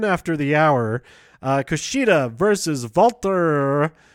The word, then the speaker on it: Walter: the hour Kushida versus Valter but they say it like that an epic match between